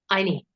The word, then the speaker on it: Anyi: Anyi.